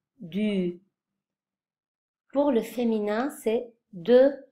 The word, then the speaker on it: du: Les formes de l'article partitif sont, pour le masculin, du, hein, on prononce ce U comme en mettant la bouche arrondie, du.